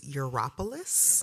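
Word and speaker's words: Gyropolis: So I had to learn how to pronounce it too. It's Europolis. Geropolis.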